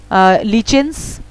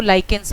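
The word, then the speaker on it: lichens: The extreme cold are लीचेंस, mosses and algae. सो इसको एक minute रुकिए. सो एक्चुअली ये जो लीचेंस मैं बोली, इसका मैं प्रोनाउंसिएशन थोड़ा सा कंफर्म करी, तो इसको लाइकेंस बोलते हैं, ठीक है.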